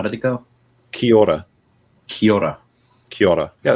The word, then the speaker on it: Kia ora: Kia ora.